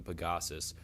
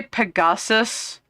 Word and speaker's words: Pegasus: The narrative follows a young Pagosus named Scottaloo. Did you just say Pegasus named Scottaloo?